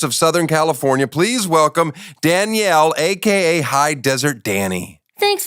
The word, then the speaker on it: Danielle: I know, I literally pronounce my own name wrong, but it's Danielle. But everyone's like, Danielle? I'm like, that's just... You say it like Danielle. I say it like Danielle. Like French almost.